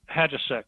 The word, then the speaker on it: Hajicek: How do you pronounce his last name? Hadjasek. Hadjasek. Okay. Yeah. I wasn't sure if it's Highcheck. I've heard it pronounced so many ways. Yeah, Hajicek.